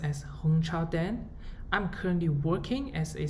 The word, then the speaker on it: Hongchao Deng: My name is pronounced as Hongchao Deng.